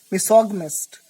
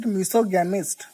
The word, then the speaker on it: misogynist: Misogynist. Now most of the people pronounce it wrong. They pronounce it misogamist.